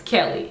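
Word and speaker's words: Kellee: my name name uh my name is pronounced Kelly in case you're wondering or didn't know it's not key at all it's Kelly and it's spelled k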